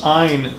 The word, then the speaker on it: Ayn: Another thing about Ayn Rand, a lot of people in pop culture say Ayn Rand, but she always said it's Ayn rhymes with swine.